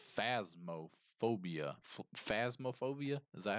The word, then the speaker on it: Phasmophobia: It's phasmophobia. Phasmophobia? Is that how it's pronounced?